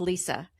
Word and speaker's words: Leisa: It is unique, just like she is, but it is still it's still pronounced Lisa.